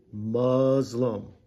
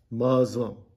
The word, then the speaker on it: Muslim: So this says Muz, and then it says Lum. So this is Muzlum. Well, let me highlight it better. Muzlum. So let's hear how it's pronounced. Muzlum.